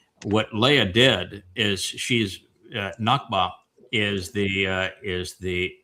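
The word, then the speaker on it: נקבה: So, Hebrew has a word that is pronounced nakba and then there is the great nagba of the Arabs.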